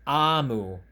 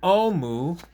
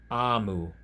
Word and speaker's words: Omu: note to the reader omu is pronounced amu is the igbo term for queen so it is not thank you omu it is thank you amu mr greg you should